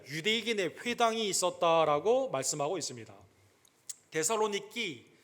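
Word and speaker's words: Θεσσαλονίκη: 데살로니키, 우리 헬라 사람들은 지금 그렇게 발음을 하고 성경에는 이제 구어체로 데살로니가 이걸 번역을 해서 데살로니가라고 이렇게 발음을 하죠.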